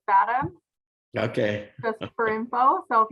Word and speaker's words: FADM: So I pronounce it Fathom, Okay.